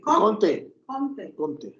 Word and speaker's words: Comte: ¿Cómo se pronuncia este? Augusto No. ¿Cómo? Comte.